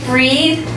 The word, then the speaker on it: breathe: Do you notice how breathe and breath Yeah. are different? It's breath. Breathe is the verb. Yeah. And This is a noun. Now. Good. And the pronunciation is different too.